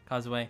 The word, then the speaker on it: Kozue: That improved him as fighting or as a fighter, and that allowed Kozue, how do you pronounce it? Kozue.